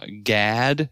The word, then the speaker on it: Gad: the tribe of uh gad isn't really gad it's closer to how we would pronounce god uh and so yeah